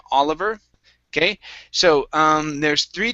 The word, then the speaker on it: Oliver: and the last time you added an h at the beginning saying hollover okay but this one here you did not okay and i think it may have just been because they're they're both at the beginning of or sort of at the beginning of sentences okay so let's try this here okay take off the h it is oliver announced try that oliver